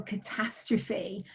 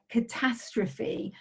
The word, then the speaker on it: catastrophe: How many syllables does it have? Catastrophe. Where's the stress? Catastrophe. That ending is strange because normally you wouldn't want to say the ending of an E in English.